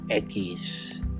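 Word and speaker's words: equis: And that, ladies and gentlemen, is pronounced echis.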